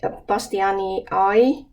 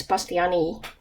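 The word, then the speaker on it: bastianii: i long e because that's the way we pronounce scientific uh names in finland so it's not pastiani eye it's pastyani for me so a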